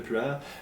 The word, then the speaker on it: Pu'er: En fait, puer, en mandarin, ou le plus près que je peux le prononcer en mandarin, ça ressemblerait beaucoup à pu'er.